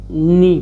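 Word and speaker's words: know: जैसे देखिए इसको अगर पढ़ना होता तो हम लोग क्या पढ़ते, अगर को नी पढ़ते, क्या पढ़ते, इसको कनी पढ़ते।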